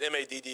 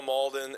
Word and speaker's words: Malden: I We typed pronounce it, anyway we but want. you typed I thought it was Maddo. You don't know? It's Carl Malden.